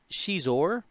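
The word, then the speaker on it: Xizor: Then at Initiative 4 you have Prince Shizor. Thank you for pronouncing his name correctly.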